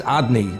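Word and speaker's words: Adonai: have the four-letter name of God which is pronounced as odd knee the master although the spelling connotes was is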